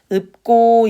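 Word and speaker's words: 읊고: 아니면 읍고라고 읽을까요? 맞아요. 이거는 읍고 이렇게 읽습니다.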